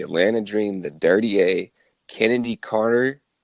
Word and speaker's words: Chennedy: Dream the dirty a Kennedy Carter and it's spelled c h n n d y so it looks like chennedy but uh it's Carter dude I